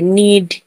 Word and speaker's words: knead: नी, KNEE, नी, नी ने भी एन से आगे एन से आगे के है तो के का उच्चारण नहीं करेंगे। नीड, KNEAD, नीड।